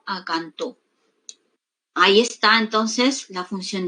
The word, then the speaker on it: cantó: Entonces tenemos aquí, mira, de canto, la mayor fuerza de voz, pues que está en la penúltima sílaba, no pasa a la última sílaba, ya tiene un significado distinto. Canto a cantó.